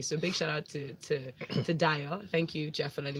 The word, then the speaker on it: DYO: Point of correction, Dio. Dio. Yeah. Oh, okay. Thank you. So Dio comes with Papaya featuring Lord Africana. Listen. Why is it Dio and it's spelled DYO?